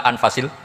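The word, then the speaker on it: أنفس: saja di sini ditulis anfusil kutubu saya baca anfasil kutub karena maknanya kitab ter baik Kalau kitab terbaik bacanya bukan anfus tapi apa anfas ya nanti kamu debat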